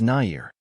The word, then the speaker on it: Nair: Nair, but to be fair, I called myself Nair for years. It was an element of wanting to anglicize my surname, and then I realized over the years that it was a hair removal cream. Laughs. I should also love and accept and understand my original culture, being Russian Indian, and pronounce it the way you'd say it in Indian, which is Nair.